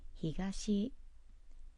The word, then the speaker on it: 東: And it's pronounced higashi east.